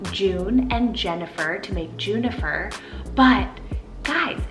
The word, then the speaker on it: Junifer: So she actually combined the name June and Jennifer to make Junifer. But guys, this one totally sounds like the name Juniper, like the juniper berry, the nature name.